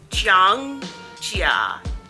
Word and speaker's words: Zhangjiajie: Only 3 syllables. Zhangjiajie, Zhangjiajie, Zhangjiajie, Zhangjiajie.